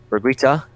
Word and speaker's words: Berguitta: and so here you can see they're predicting Brigitta a pronounced it right weeks on high for once